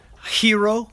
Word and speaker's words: gyro: In fact, if you eat any at any Mediterranean fare, the Hero or gyro, it's spelled Gyro.